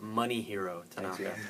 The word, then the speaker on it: Masahiro: said his name wrong it's not mossier it's money hero thank you he makes